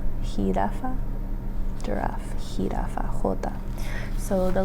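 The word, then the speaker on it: jirafa: So this one is hiraafa hiraafa giraffe. Hi. So the letter J um is going to be pronounced as a H sound.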